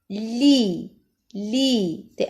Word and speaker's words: lit: Leia, li. T à la fin ne se prononce pas.